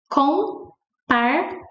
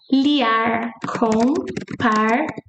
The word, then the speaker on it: compartilhar: Compartilhar. Our M never sounds like M. Compartilhar. It sounds like N. Compartilhar. Compartilhar.